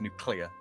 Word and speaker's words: nuclear: The emphasis should actually be on the clee part rather than the new part as well. It's nuclear, as in nucleic acid.